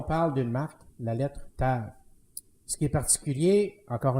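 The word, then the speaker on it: תו: est Tav, qui s'écrit, qui peut s'écrire dans notre alphabet à nous, T-A-W, parce que le W est une consonance d'un V. Alors, T-A-V, pour nous, de la façon dont on le prononce.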